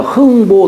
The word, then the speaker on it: 흥보: 부자지만에 자를 지어줄 때에요 자를이 글자를 쓰면 보라고 읽어요 그래서 우리가 흥부 놀부가 아니라 흥보 놀 보여요 보자가이 남자의 미칭으로 이렇게 쓰는 거예요 보라고 읽어요 부라고 읽지 않고 보라고 읽는 겁니다 애비를 할 때는 불하고